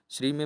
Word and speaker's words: श्रीं: श्री में माँ की बिंदी भी लगाई जाती है, तो इसको हम पूरा पढ़ते हैं उच्चारण, तो श्रीम का ही उच्चारण करेंगे।